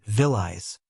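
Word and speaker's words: Willys: They pronounced it villis.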